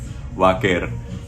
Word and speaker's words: Vaquer: This is how you say it, Stephanie Vaquer. If you want to say it like in English, it'd be Stephanie Vaquer. I'm just gonna say Vaquer.